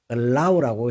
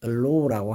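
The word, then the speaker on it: allow: 먼저 자막을 보세요 단어입니다 발음할 때 얼라우라고 해야 되지 글로우라고 하면 안 됩니다 자 그러면은이 말을 영어로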